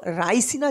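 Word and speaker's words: Raisen: তবে শুধু মধ্যপ্রদেশ জানলে হবে না, মধ্যপ্রদেশের জায়গার নাম কি, তো রায়সিনা জেলা। মধ্যপ্রদেশের রায়সিনা, দেখো নাম নিয়ে তোমার কাজ নেই, উচ্চারণটা শোনো, মানে আমি কি বলছি, মধ্যপ্রদেশের কোন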